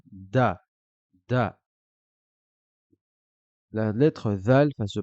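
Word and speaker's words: دال: lettre qui suit est la lettre dal qui correspond à un D en français tout simplement on la prononcera da da la lettre zal va se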